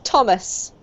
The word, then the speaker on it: Thomas: It's actually just a T sound, Carmen, so it's Thomas. Okay. Talk, Thomas, train, 12, butter, until, hated, night, worked, west.